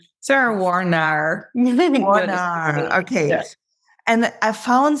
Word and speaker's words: Warnaar: Do I pronounce that right? Sarah Warnaar. Warnaar, okay.